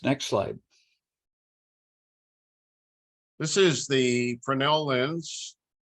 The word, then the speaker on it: Fresnel: happen told Chris next slide this is the fresnel lens pronounced fresnel spelled f-r-e-s-n-e-l it is named for Augustine fresnell